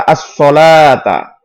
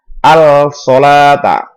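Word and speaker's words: الصلاة: Cara membacanya dimasukkan. As-sholata, tidak al-sholata. Jadi langsung masuk ke shadnya.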